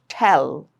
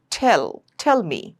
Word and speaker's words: tell: A lot of people say it as tell. Okay? No, it's tell.